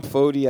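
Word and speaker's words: Foti: my name is fodey I pronounce it f-o-d-y but it's f-o-t-i and I'm the only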